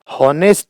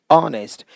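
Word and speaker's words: honest: हॉनेस्ट नहीं, ऑनेस्ट।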